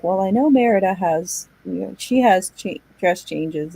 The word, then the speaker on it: Merida: I don't remember Merida, how do you pronounce her name? Merida.